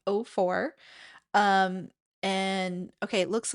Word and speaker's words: Au4: Graham is bringing us 04 is the pronunciation here. It's spelled AU4, but I guess it's pronounced 04.